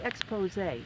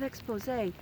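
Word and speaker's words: Exposé: two songs actually by Expose remember the group expose with the with the accent on the on the E all right not 80s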